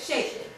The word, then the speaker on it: sheikh: He was a very wealthy sheik. Is that how you say it? Sheikh.